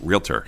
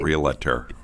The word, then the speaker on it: realtor: that and uh right get the word out it's realtor not re-elector or anything else like that uh this uh robin